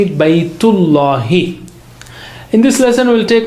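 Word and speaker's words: بيت الله: Baytullahi.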